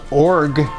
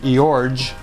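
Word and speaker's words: Iorg: the uniform of Dane I think it's pronounced org that's how the announcers always said it it looks like eorge I O RG but Dane org pinch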